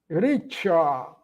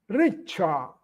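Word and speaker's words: riĉa: Outro exemplo, Richard. Lembrando que o ser chapéu tem um ser, o som de tch, de tchau. Richa.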